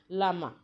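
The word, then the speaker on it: llama: लामा, ये जो स्पेलिंग है बेटा इसको हम लामा पढ़ेंगे, लामा एंड एल्पाका ये नाम है।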